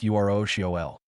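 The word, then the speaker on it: urushiol: It's a plant oil called Urusial, pronounced URL.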